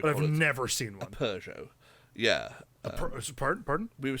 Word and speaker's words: Peugeot: I had heard of but never seen, like Peugeot. Like Yeah. I've never once seen a Peugeot in America. I've heard of people owning them, As we would but call I've it, never seen a one. Peugeot.